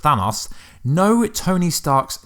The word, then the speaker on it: Thanos: tab was how does a fan us or Thanos although it actually pronounced Thanos Noah Tony Stark's name